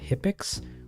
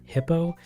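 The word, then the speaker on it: Hippeux: favorite would be uh hippix or Hippo as the proper pronunciation for his name and technically is um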